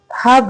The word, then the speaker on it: Hab: निकलेगा तो ये रिवर आपका रिवर हब है, HAB आपकी स्पेलिंग जो दी गई है CI में, इट्स HAB हब, राइट।